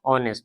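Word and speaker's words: honest: उच्चारण पता होगा इसका एच ओ एन एस्ट को ऑनेस्ट नहीं बल्कि ऑनेस्ट तो अ से लेकर औ तक से लगता है तो ऑनेस्ट औ से हुआ इसलिए एन लगा दिस इज डैश कॉस्टली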